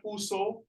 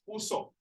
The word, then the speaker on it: puso: Okay, not puso, it's puso. Oh, puso.